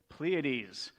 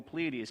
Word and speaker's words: Pleiades: Anyone know how to pronounce it? What is it? Pleiades. It's a three one. It's almost like the Little Dipper. Anyhow, God is saying here, can you bind the beautiful Pleiades?